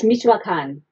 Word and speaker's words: Michoacán: you about how you've been, how do you pronounce that province in that state? Yeah, it's Michoacán. Michoacán, okay, sure.